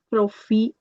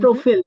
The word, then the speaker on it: profil: SMS, Mhm, le compte, profil, profil, mhm. profile, sorry, le, Correct. That's a pronunciation exception. Whenever a word ends with L, we pronounce the L.